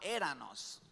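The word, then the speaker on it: ἔρανος: Esta se llamaba éranos, como éramos pero no éramos, sino éranos.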